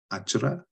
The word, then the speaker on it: Achra: A-C-H-R-A. So I will pronounce that as Achra.